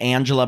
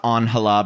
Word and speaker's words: Angela: So the first one is, well, they pronounce it Angela, but it's Angela because it's Spanish.